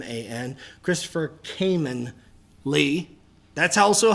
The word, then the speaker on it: Khayman: Kh a y m antopher cayman Lee. That's also how you That's how you say it too. I've had so many people who sit there and say Kimman Lee and I'm like that's Cayman.